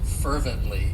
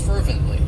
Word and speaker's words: fervently: one of my favorites fervently it has three syllables and the stress is on that first syllable fervently and what it means